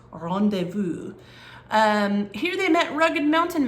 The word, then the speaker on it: rendezvous: It looks like rendezvous, right? It's one of those French words that has a bunch of consonants in it that we don't pronounce, but it is pronounced rendezvous.